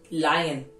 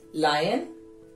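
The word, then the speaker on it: lion: मैं बहुत सारे लोगों से सुनती हूं लॉयन आ गया, इट्स नॉट लॉयन, लायन।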